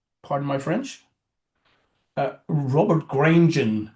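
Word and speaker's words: Granjon: Pardon my French uh Robert Grenen. You probably pronounce it Robert Grunen.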